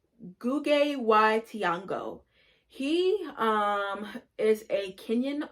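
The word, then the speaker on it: Ngũgĩ wa Thiong'o: to butcher his name i think you say it like gugge y tiango he um is a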